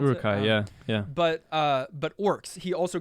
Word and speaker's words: Uruk-hai: obviously created the Uruk-hai, or is that how you pronounce it? Uruk-hai, yeah.